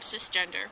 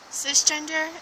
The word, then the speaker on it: cisgender: It is pronounced cisgender, not size, or at least that I know of. I could be wrong.